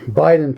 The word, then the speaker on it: Beiden: Anyway, this is beaten pass or Biden pass to pronounce it correctly or no, it's Ben. That'd be Ben pass. So, this is Bayen Pass.